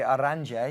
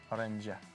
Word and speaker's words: Oranje: However, the Oranje, is that how I pronounce it? No. Oranje.